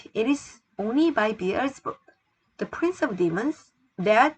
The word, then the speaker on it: Beelzebub: 자, 바알세불을 영어로는 B-E-L-Z-E-B-U-B에서 Beelzebub. Z 발음이야. Beelzebub.